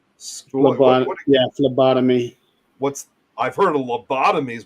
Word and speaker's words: phlebotomy: during her how do you want to say philobotomy yeah phlebotomy what's i've heard of lobotomies about phlebotomies what